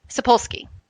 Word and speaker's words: Sapolsky: How am I supposed to pronounce that? Sapolsky. Sorry. So there's a great book called Why Zebras Don't Get Ulcers by Robert Sapolsky.